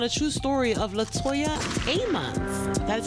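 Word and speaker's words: Ammons: a based on a true story of Latoya a mon that's how you say her name then we're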